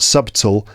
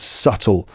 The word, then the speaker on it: subtle: case the adverb subtly notice that the B is silent it's not subtly but just subtly and not subtle but subtle so something is subtle